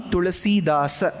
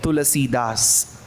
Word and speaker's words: Tulsidas: Tulsidas. Whereas when you come from the Samskritam perspective, you will have to pronounce the last aksharam.